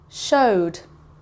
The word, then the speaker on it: showed: Showed. If you can hear, there's a D sound at the end, so it goes over here.